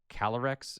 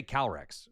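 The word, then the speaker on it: Calyrex: V-Max cuz it's like it's not it's like calorex like there's there's like a little roll or pause in the middle. It's like it's like calorex or something like calorex something like that.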